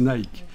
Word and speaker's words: Nike: nicke Nike savez qu' en principe ça se prononce nické parce que ça c'est une desse de l'Antiquité la DESS Nick mais bon comme c'est pas très bien vu pour l'instant notre époque on va prononcer Nike on va garder l'adjectif